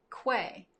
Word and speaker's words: Quay: Second one, Quay. Okay, fair enough. Fair enough. Rhymes with way.